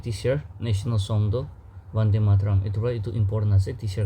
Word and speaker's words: Vande Mataram: Vande Mataram is also sometimes pronounced as Bande Mataram.